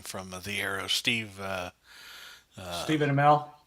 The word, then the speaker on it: Amell: Stephen Amell. Amell.